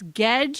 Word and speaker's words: Gedge: Gedge is pronounced like edge.